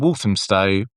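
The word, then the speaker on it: Walthamstow: um and Walam Stow as we pronounce it in E17 E east northeast London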